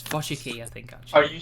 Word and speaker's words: Wojcicki: I mean, the W in Polish is pronounced like a V.